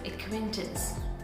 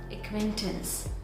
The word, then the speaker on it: acquaintance: And the correct pronunciation of this word is acquaintance, acquaintance, acquaintance, tins, acquaintance.